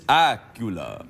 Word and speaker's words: Accola: look very swish Candace AA sounds a bit like Dracula it does that's how I try to pronounce it on the phone when people Miss really yes you say hello it's Miss Acula yes that's exact Acula